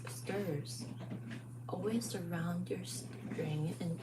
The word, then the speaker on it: str: have text values called strings or s t r s pronounce stirs always around your string